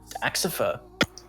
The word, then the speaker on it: Axipher: Folding Man, Axipher. I think I'm saying it right. Hello, and yes, that is correct.